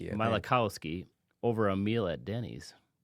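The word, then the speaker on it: Malachowsky: Nvidia was founded by Jensen Wong and Chris I don't even know how to pronounce his last name. Mal Malikowski. Malikowski over a meal at Denny's.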